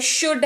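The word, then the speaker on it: should: हमारे पास वह है शुड हैव एस हा ओ यू ल दी और इसको शुद्ध पढ़ने हैं ल जो है वह पढ़ने वक्त साइलेंट राहत है और इसको शुद्ध पढ़ने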